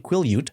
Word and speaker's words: Quileute: And that the second one is Quileute, pronounced, I believe, Quileute. I watched a YouTube clip about 1,000 times to nail that.